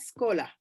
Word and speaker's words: escola: as well but actually the word when you're writing it down it is escola when you pronounce it if there is a vowel beforehand like here there's an escola then it's yeah it's usually the case that people say scholar okay i hope i